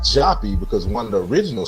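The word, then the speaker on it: Joppa: is spelled j o p paa but it's pronounced jappy because one of the original spellings was j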